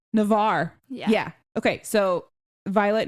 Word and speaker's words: Navarre: Are That you was asking about Navarre. pronunciation? Navarre.